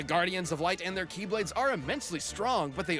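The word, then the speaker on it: χ-blade: means the x blade it's just pronounced like keyblade even though it's just one keyblade ah it's a series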